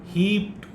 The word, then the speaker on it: heaped: Heaped, we say heaped, it is not d, but rather it is t.